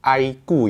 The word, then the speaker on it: iQOO: tahu sama brand Aiko bacanya ini aiku ya Aiko tapi tulisannya iqoo jadi ini adalah sub rem